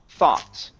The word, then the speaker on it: thought: Now, in this word, the G and the H are not pronounced. So, we're not going to say th. Okay. It's thaw. Okay. It's only an a sound right here. A thought. Thought.